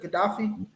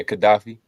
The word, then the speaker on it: Gaddafi: Li strong man gdaf gafi how did you pronounce that Gaddafi yeah Gaddafi okay KH yep it says U Omar Gaddafi